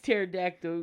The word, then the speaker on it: pterodactyl: looked like yeah it's pterodactyl because the p is silent so wednesday i will